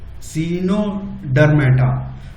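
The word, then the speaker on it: Echinodermata: 8th चिनोडर्मा जो है, सीनोडर्मा, ई silent रहेगा, सीनोडर्मेटा।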